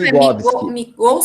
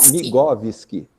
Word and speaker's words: Migowski: Migovski. Migovski. Migovski. Isso, o W entra como português.